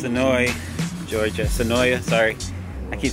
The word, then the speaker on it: Senoia: the show last year and it's annoy georgia Senoia sorry I keep saying it wrong but I